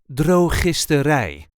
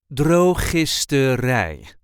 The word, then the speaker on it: drogisterij: This is the way we say Drogisterij. Drogisterij. There is a light emphasis on the last syllable. Drogisterij.